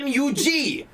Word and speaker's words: Mug: this guy's it's not it's not mug root beer it's MU G root beer you've been saying it